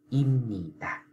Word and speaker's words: 입니다: n nè, cho nên chữ bờ nó đã biến thành chữ gì các bạn, chữ m, cho nên bạn phải đọc là imnita.